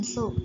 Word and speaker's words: ศุกร์: ศุกร์ อ่าน ว่า วัน ศุกร์ จะ ไม่ ออก เสียง รอ เรือ นะ คะ เพราะ มี